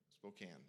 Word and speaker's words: Spokane: hike up there uh spokane spokane yeah the e is silent uh menache wenatchee wenatchee yeah